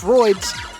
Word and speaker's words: Pararoid: something that I think I kept trying to mispronounce, but it's Roids, R-O-I-D-S.